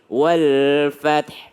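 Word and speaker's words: وَالْفَتْح: Padahal sebenarnya Nasrullahi wal fath. Ya, ada arid di sini. Wal fathi aslinya, tapi karena berhenti tanya sukun, hanya juga sukun. Gimana cara bacanya? Wal fath, wal fath, wal fath.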